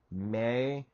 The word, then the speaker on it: Me: May metacognition and mimemetics. Now, first covering definitions. May me e pronounced may a Sumerian term that was used